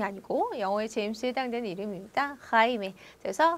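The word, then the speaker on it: Jaime: 제임스가 스페인어는 하이메, 하이메. 저희는 영어의 제임이 아니고 영어의 제임스에 해당되는 이름입니다. 하이메.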